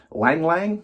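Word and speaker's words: ylang-ylang: I think it's pronounced lang lang.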